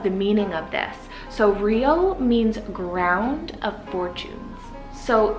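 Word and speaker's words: Riau: It's actually a huge chain of like 1,700 islands in Indonesia, and that is the name Rio. So it's spelled R-I-A-U.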